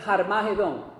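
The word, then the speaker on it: Harmagedón: llama la la batalla de Jarmajedón, así se pronuncia en el en el en el hebreo.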